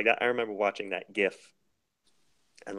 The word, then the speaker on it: GIF: I remember watching that gif and like man like that was such a cool scene right there like a little montage or whatever its called by the way it's pronounced jiff but that's a discussion